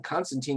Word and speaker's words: Constantine: referred to by name constantine is pronounced with the last syllable rhyming with time for many fans this